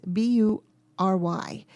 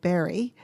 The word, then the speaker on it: Bury: And Bury is Bury. So I think we would call it Barry, but it's pronounced Bury, Bury.